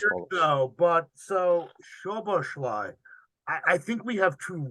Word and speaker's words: Szoboszlai: the name is pronounced Dominic Szoboszlai. Oberschlag. Szoboszlai.